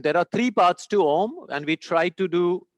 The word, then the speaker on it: Om: say how to pronounce ohm it's simple you start with taking a deep breath you open your mouth ah you don't have to change anything just half close the mouth ah becomes ooh and fully close the